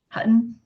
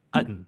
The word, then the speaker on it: Hutton: I feel like it's like missing the H when people do that. It's Yeah, like Utton, right? yeah. My mom and dad, like every time that they hear like the announcer say Hutton, they're always like, "Where's the T's?"